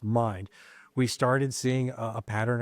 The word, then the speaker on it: Mynd: And then when we started checking into the corporate property management company, which is Mind, which is spelled MYND, but pronounced Mind, we started seeing a pattern of complaints, and we went straight to the BBB.